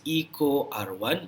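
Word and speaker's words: EcoRI: there are two okay the first one is eco r1 that's how we pronounce it and the other one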